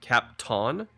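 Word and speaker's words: Kapton: It's like captain with an capton. Oh, capton. That's how you say it.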